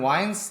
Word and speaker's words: Wiens: yeah I think it's I think it's originally like V but like we've always pronounced it Wines in my family and spelled it that way my grandfather's brothers were